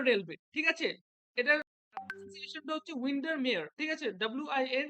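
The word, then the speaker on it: Windermere: এন্ড উইন্ডার mower railway ঠিক আছে এটার হচ্ছে উইন্ডারমেয়ার ঠিক আছে ডব্লিউ আই এন ডি ই আর এম ই আর ই উইন্ডারমেয়ার railway ওকে তারপরে তোমাদের উইলিয়াম ওয়ার্ডসের লেখা দ্যা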